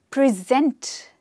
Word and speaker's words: present: it was time to present the present so present what do we mean by present present means to offer something to somebody but here the stress is on the second syllable he saw it was